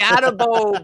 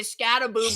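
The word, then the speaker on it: Skattebo: Scataboo, bow your boat gently down the stream. See, it doesn't even work when you say Scataboo, because we murder names over here, man. Rhyme with bow or row.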